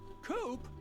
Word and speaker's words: Coop: can call me coop coop that rhymes with scoop i think we're gonna